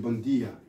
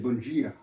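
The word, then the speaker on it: bom dia: En portugais, c'est bon dia. En brésilien, c'est bon dia. Mais ça s'écrit pareil. Mais le D devient un G.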